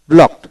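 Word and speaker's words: blocked: তারপর ব্লক, ব্লক বাধা দেওয়া, ব্লকড, ব্লকড ইডিতে ট উচ্চারিত, ব্লক।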